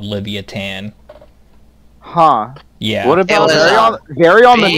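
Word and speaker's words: Livyatan: was like 50 feet long it it's probably Livia tan by the way also that's how you pronounce it spell it pronounced something else oh Livia tan okay yeah it's pretty awesome honestly it is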